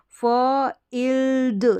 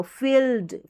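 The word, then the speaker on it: field: फ इल्ड, ल का साउंड आएगा, फ इल्ड, फील्ड। तो इस तरीके से उच्चारण होगा, इसको हम फाइल्ड नहीं पढ़ेंगे, हम पढ़ देंगे फ इल ड, फील्ड।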